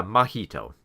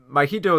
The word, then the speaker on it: Mahito: M and Mah uh M I think it's pronounced yeah mahito right so this kid mahito